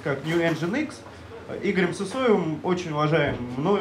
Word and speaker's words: Nginx: Соответственно, Nginx был разработан, читается как New Nginx, Игорем Сысоевым, очень уважаемым, мной уважаемым программистом.